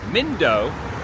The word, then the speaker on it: Mindo: Myself and my group are going to be going over to Mindo, M-I-N-Do. And Mindo was his name.